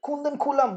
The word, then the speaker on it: Kudankulam: So it's Kundan Kulam in pronunciation. Kundan Kulam, Vanakkam, Harshini, Solunga.